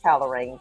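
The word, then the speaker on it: Calerain: So like Kale Rain. C A L E R A I N. So um but it's it's pronounced calorain candles.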